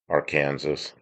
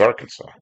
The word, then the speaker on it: Arkansas: Because if you're in Witchah, Kansas, there's a street, a big street, and they call it looks like Arkansas, but they call it our Kansas. But when you're in Arkansas, it looks like our Kansas, but it's Arkansas.